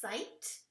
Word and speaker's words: sight: Like sight. So it's I, and then the GH is silent.